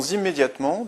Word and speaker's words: immédiatement: Dixième exemple, nous devons immédiatement décrocher ce contrat. Immédiatement, on a une terminaison qui se prononce aimant, donc on ne mettra qu'un seul M.